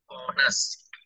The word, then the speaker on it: honest: And also I find that honest may not be the right pronunciation because H should be silent. It should be honest.